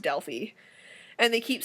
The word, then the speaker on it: Delphi: And also they keep pronouncing the city of Delphi wrong. Because they keep pronouncing it Delphi, which is, like, fine. I think that's how the English pronounce it, but in the actual Greek language, it's pronounced Delphi.